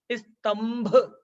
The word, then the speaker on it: स्तंभ: कौन सा है मा इसलिए आधा मा का उच्चारण हो जाएगा स्तंभ तो पांचवे वर्ण का